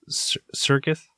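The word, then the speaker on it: Serkis: Dano John turtle toow and Andy uh C Circus Circus Circus man no you're right it's circus that's how you pronounce it all right all right and uh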